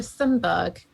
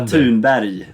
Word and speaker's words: Thunberg: A bit like Greta Thunberg. Look at the impact. Greta Thunberg. Look at the I can correct the Swedish pronunciation if you want. Greta Thunberg. Okay, yeah. See, neither of us got it right.